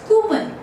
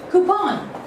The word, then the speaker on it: coupon: Well, I have heard people pronouncing it as coupon. Okay, coupon. Well, that is absolutely inappropriate. So let us talk about the correct pronunciation. It goes like this way. Coupon. It goes like coupon. Okay, coupon. Now, it is not the coupon sound. It is the coupon.